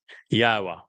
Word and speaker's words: Yahweh: Al Benyim Yahweh, which is the proper pronunciation of the name of our Eloah, God, as directed by his Torah teaching regarding his Haya existence.